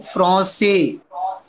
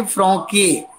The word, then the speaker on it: français: Without sedila ka, with sedila sa. So here we will say francais, don't say franke. Agar sedila na ho, then franke, otherwise francais.